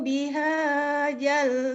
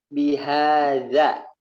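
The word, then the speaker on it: بهذا: La uqasimu bihadzal balad. Bihadza. Lihat mulut saya nih. Bihadza. Ujung lidahnya taruh di gigi.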